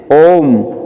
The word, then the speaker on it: ओम: ओ उम, ये ऊ नहीं है, ये क्या है? प्लुत मात्रा है। इसको मतलब ओ को 3 टाइम तक बोला जाता है। तो कैसे बोलेंगे? ओम, सही उच्चारण होगा।